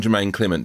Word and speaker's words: Jemaine Clement: Hi, I'm Jemaine Clement. Did I pronounce that right?